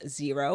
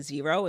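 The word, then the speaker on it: Xero: so the accounting software that we use is zero which is spelled x e o and this allows us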